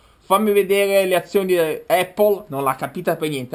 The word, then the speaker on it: Apple: Ah, forse facciamo la pronuncia con la E, perché voci di corridoio dicono che Apple non si dice Apple con la E, come teoricamente si dovrebbe dire. Si dice Apple con la A.